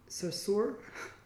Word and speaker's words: Sarsour: I can never say her name correctly for some reason, but Sarsour, there it goes.